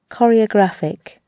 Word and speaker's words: choreographic: Частенько у нас бывает, что сочетание CH в английских словах произносится как К. Choreographic.